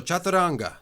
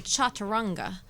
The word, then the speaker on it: chaturanga: My teacher, Jimmy Barkin, he's very American, so he would say chaturanga. Chaturanga. Exactly, chaturanga. I think that's funny. It's almost like Spanish, the way you have to pronounce the things.